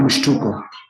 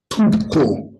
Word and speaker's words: mshtuko: Let me break down the word mshtuko. Is mshtuko.